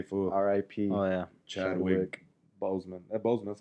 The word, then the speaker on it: Boseman: Chadwick Boseman.